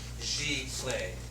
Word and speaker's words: Giclée: So we're going to go over the history and the origination of the term Giclee, and that's how it's said, Giclee.